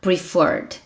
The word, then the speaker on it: preferred: Dobre o R para falar preferred. Dobre o R, porque o stress está na sílaba do CVC.